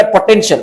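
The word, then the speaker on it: potential: पोटेंशियल का मतलब पी ओ टी ई एन। पोटेंट। पी ओ क्या हुआ? प टी ई एन पोटेंट। और टी आई ए श एल एल का साउंड तो ल होता है। पोटें पोटेंशियल।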